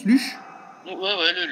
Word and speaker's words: Luchs: lche ouais c'est comme ça que ça se prononce luchche ouais ouais le lux oui aussi ouais le LCH bon on va